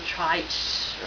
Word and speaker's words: trich: um I have trichotillomania which is Tricor trich or or trick uh different people pronounce a different ways so um I call it trike um for short and um